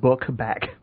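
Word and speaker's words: Bukbak: On the ones that I watched originally, it was spelled B-U-K-B-A-K, which made sense. But I guess on the DVD they just decided to spell it phonetically, because it's literally spelled book back.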